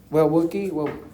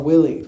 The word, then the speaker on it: Willie: Wookie, I said it right? Well, Willie. See, I told you I wasn't pronouncing it correctly.